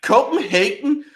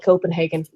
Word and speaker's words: Copenhagen: Have you Copenhagen? No one pronounces that.